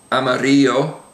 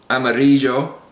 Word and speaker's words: amarillo: So the words we have on the page there would be millón, amarillo, and llama.